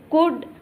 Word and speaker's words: could: We pronounce as could, would, but you should not write as CUD, could, WUD, would. Learn the correct spelling. COULD, could. WOULD, would. So here L acts as a silence.